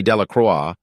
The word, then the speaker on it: Delacroix: Harry Jones and Dickie De La Croix the villagers pronounce this name delacroix eventually made a great